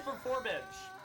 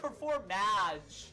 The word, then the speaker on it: Performage: time it really is performage it's not even perform it's performage like p e r f o r m like hypen i d g like Bridge Okay uh who we